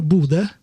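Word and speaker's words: Bodø: Is it pronounced Bodo? No, Bude.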